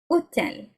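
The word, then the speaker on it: hôtel: The H is silent. You don't pronounce it. Hotel, yeah?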